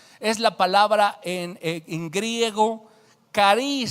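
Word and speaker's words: χάρις: Así que gracia, con el número 5485 del Strong's, es la palabra en griego caris, se pronuncia caris, se escribe charis, ¿sí?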